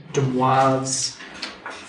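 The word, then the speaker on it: De Moivre: a name for that that's pronounced de Moz theorem so if you have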